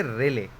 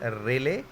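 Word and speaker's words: Rayleigh: Such type scattering of लाइट known as, पढ़ो इसका नाम क्या है, करना प्रोनाउंसिएशन इसका एक बार, क्या हुआ? इसको बोलोगे रेले, ठीक है ना। तो such type scattering of लाइट known as रेले scattering, नाम याद रखना इसका, रेले, रेले स्केटरिंग।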